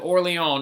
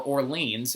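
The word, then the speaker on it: Orléans: is to save the city of or Lyon as proof or or liens as like many people are gonna pronounce it because that's why New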